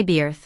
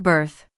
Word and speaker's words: birth: Even though it contains the letter I, we don't say beer. Again, it sounds like birth.